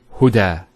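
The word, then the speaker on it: هدى: It's called an Alif Maqsura, and it's exactly like an Alif, the way it's pronounced. It's like a Ya, without the 2 dots. So we say Huda. There's the elongation as well, because the Fatha followed by an Alif.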